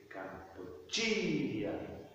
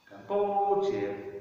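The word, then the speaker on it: Kampuchea: But in Khmer, it would be Kampuchiya. The third syllable is stressed. If you try to stress the second one, Kampuchiya, it sounds wrong. You know that's wrong.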